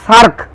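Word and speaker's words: SAARC: পররাষ্ট্রনীতির প্রধান বৈশিষ্ট্য কি S double A আর সি উচ্চারণটা হবে সার্ক সার্ক এর পুরো কথাটি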